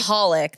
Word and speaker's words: Michalik: Michalik, the C silent.